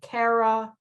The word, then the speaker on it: Cara: So it's Taking Cara Babies, but Cara is spelled C-A-R-A.